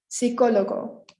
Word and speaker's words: psicólogo: Psicólogo. Our next one, like English, the P is silent. So psicólogo, not psicólogo.